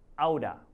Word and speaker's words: out of: Out of becomes outa, okay? Outa.